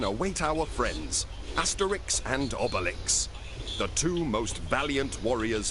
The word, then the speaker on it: Obelix: I guess I've been pronouncing it wrong. It's Obelix, not Obelix.